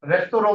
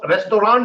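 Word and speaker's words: Restaurant: रास्ता रेस्टोरेंट नहीं है, गलत बोलते हैं हमने। रेस्तोरों होता है ना? रेस्तोरों फ्रेंच भाषा से आया है ये शब्द। सो वो अब इंग्लिश वाला ही प्रोनाउंसिएशन इंग्लिश वाली होती है। हाँ, फ्रेंच वर्ड है तो फ्रेंच, फ्रेंच वाली वो आएगी रेस्तोरों, है ना?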